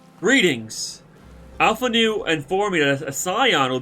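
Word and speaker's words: Alphinaud: sure absolutely uh master alphanu I got this he's massive alphanol there's no one knew I think it's afternoon make the D is silent readings Alpha new and formula a Scion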